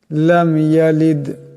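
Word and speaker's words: لَمْ يَلِدْ: কলকালা হবে আল্লাহুস সামাদ লাম ইয়ালিদ এখানে লাম এমন করে গুন্না করা যাবে না গুন্না করলে ভুল হয়ে যাবে এখানে দাল সাকিন আওয়াজ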